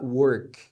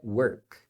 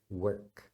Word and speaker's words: work: né então é were E essas palavras você também vai pronunciar o começo como were então aqui é work hum sabia dessa work porque muita gente fala work com o ou pior